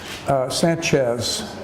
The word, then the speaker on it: Sanchez: Sanchez is a Mexican name, a Spanish name, and we would pronounce that Sanchez with a CH. The Z is a CH sound.